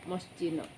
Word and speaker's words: Moschino: Ini brand bacanya apa? Moschino ya, Moschino.